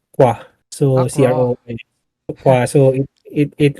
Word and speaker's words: Croix: And then yung, it's actually I think for the Americans, they pronounce it Croy. Although it's a French word, croix.